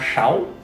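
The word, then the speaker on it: sáu: So this is pronounced shao. Now, you may have heard that this sound pronounced like SH. In Vietnamese, the consonant S has an SH sound.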